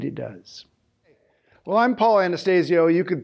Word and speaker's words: Anastasio: does well I'm Paul Anastasio you could pronounce it Anastasio that's really the Italian pronunciation but my dad pronounced